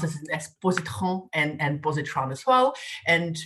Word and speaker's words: Positran: So as Lucy has mentioned, I do run a company called Positran, and you can pronounce it as Positran and Positran as well.